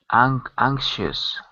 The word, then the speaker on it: anxious: So, Like anxious.